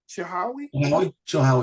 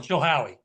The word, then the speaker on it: Chilhowie: We've got Auburn and how do you pronounce that Chihowie? Chilhowie. Yeah, Chilhowie.